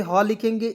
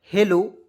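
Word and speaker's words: hello: देखिए नेक्स्ट देखते हैं ए से ह लिखेंगे ई से ए की मात्रा एक एल को साइलेंट करके एक एल को ल लिख देंगे ठीक है ओ से ओ की मात्रा लिखेंगे क्या हो जाएगा दोस्तों हेलो हेलो मीस क्या होता है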